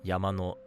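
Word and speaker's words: 山: after the word, but if it's -no, then the particle will be said flat most of the time. Yama no, kawa no, mune no.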